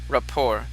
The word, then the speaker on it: rapport: it's a silent T. It's pronounced rapport.